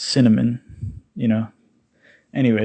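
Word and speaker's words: SinAmen: of you don't know it's cinnamon but it's spelt capital s i n capital a m e n but it's it's like sin amen but it's cinnamon you know anyway it's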